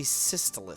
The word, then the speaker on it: Systolus: We then turn around the table, and we see Systolus. Systolus? Is that it? Yeah, as snaky as you could make it sound is the correct way to pronounce it.